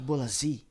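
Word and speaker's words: Bolasie: Então, o Bruno Furtado aí falou Bolazi e é Nick Bolazi.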